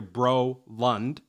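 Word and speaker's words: Brolund: and uh I have my last name is broland it's a good Swedish name it's exactly spelled like you think it is when you hear bro Lund but it's amazing how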